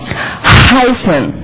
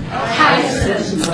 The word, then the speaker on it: heißen: Heißen. Heißen. Again, this letter is two, like two S, it's pronounced very, very sharp and unvoiced.